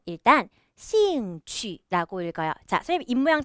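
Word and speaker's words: 兴趣: 차근차근 설명 드릴께요 여기 뒤에 있네요 발음의 일단 씨인 취 라고 읽어야 자세히 임명 잘 보세요 씨잉 취침 cm 취 취 발음할 때 임명 동그랗게 하셔야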